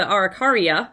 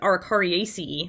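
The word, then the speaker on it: Araucariaceae: picture on the left the arikarya or excuse me arikari ace that's the family you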